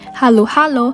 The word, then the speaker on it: halo-halo: all over the world its original tagalog pronunciation halo halo translates to mix mix because you're supposed